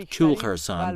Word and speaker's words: Koul Khersan: visit the kulharsan valley pronounced kulharsan by the locals the valley is one